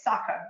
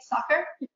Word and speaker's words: Sacher: also put that and I know you're supposed to say soccer right soccer how do you say